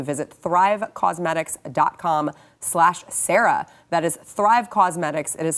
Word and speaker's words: Causemetics: By the way, the keyword in Thrive Cosmetics is cause, because they are on a mission to help people.